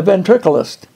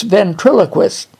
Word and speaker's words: ventriloquist: him and he says I'm the ventriculist I said what you didn't pronounce that word right it's ventriloquist yeah that's what I said ventriculus I said if you're